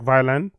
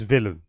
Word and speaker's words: Vylan: look like you know phonetically it does look like it sounds like violin but it's villain so says Bob Villain.